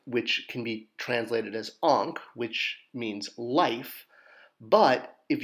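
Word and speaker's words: ankh: with the symbol for sandal tie pronounced ank and then adding the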